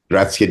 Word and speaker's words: Graziadei: now today is uh Billy Graciad. Did I say that right? Graciade. That's perfect.